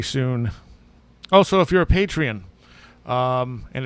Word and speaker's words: Patreon: Also, if you're a Patreon, and it's Patreon, just in case anyone misunderstands this, it's not Patron, it's Patreon.